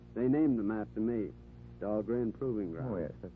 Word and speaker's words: Dahlgren: named them after me dog rain Proving Ground oh yeah of course they uh they mispronounce it down there dull green they say but still named after